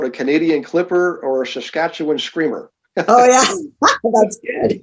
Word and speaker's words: Saskatchewan: a lot of people have a hard time pronouncing our province but it's saskatchewan canada yeah i love it by the way